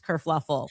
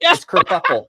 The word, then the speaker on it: kerfuffle: Prince Harry abdicates England, causes this whole race kerfluffle. Oh no, that's kerfuffle. We knew a kerfluffle happened. Kerfuffle. Because this dress kerfluffle. Pronounced kerfuffle. Kerfuffle.